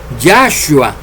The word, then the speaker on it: Yahshua: Pero aunque en español la letra H sea muda, ustedes la tienen que pronunciar porque los hebreos la pronuncian.